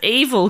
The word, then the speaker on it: Evel: So conval began to be referred to as evil conval. Okay. Evil rhyming with conval.